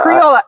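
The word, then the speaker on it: criolla: Cuz I don't know what the syllables are, but I Creola. Creole. Sorry. It's C R I O L L A. And the thing is where that word comes from. It comes from Creole.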